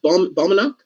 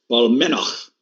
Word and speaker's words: Balmenach: Balmenach? Where is it here? Balmenach. Balmenach. Balmenach. The CH in Gaelic is a ch sound, like Bruichladdich or Glenfiddich.